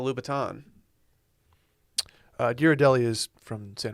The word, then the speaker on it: Louboutin: i see the word i just go straight into lou bhutton instead of louboutin uh girodelli is from